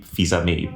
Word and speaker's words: Fils-Aimé: I think it's actually pronounced Reggie Fils-Aimé, but I prefer my version.